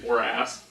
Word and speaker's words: Horace: Oh, I was about to repeat how you say it, but it's Horace. That's how you pronounce it.